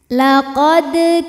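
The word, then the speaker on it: لقد: auzubillahiminasyaitanirrajim Bismillahirrahmanirrahim laqad di sini ada hukum Qalqalah Sugra karena ada huruf Qalqalah yaitu huruf Dal yang sukunnya ini asli bawaan dari kalimah laqad dan ada di tengah bacaan kita maka cara bacanya adalah dipantulkan dengan pantulan yang kecil laqod kafar huruf ro dibunyikan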